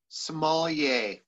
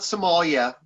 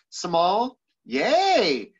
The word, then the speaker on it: sommelier: it come from uh please give us the correct pronunciation of sommelier small yay um so it's not somalia and that's the one that probably gets the most uh confused is small yet somal small think about going to a mall small yay i'm going to the mall small yay sommelier so it's kind of